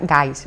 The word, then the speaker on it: Geist: sea, no está, me han dicho que se pronuncia Geist, o sea que me esforzaré.